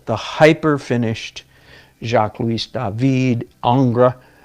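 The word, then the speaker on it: Ingres: hyper finished jacques-louis David Angra that's spelled ing re by the way or William Bouguereau all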